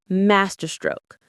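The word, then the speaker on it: masterstroke: Master stroke. The stress is on the first syllable.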